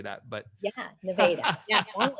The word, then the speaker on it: Nevada: Wait, how do you pronounce it again? Nevada, am I saying that right? Yes, Nevada, Iowa. Duh. Not Nevada. We are Nevada.